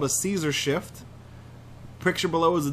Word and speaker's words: Caesar: Is that like a Caesar salad? I believe it's pronounced Kaiser.